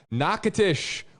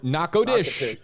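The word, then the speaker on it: Natchitoches: facebook page i mean everyone here telling me nakatish or naco dish i mean that's the correct uh pronunciation i learned something new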